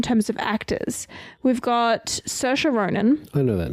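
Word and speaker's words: Saoirse: doing it all right I think it's like sersha I think it's s Sasha R it's not Sasha she's Irish yeah but how they spell it and how it says is two distinct and completely different IDE just need you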